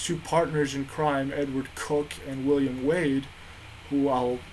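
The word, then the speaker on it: Coke: as I said Edward cook and and William Wade Edward cooked at the time and his name was spelled Co ke but it's pronounced Cook was the Attorney General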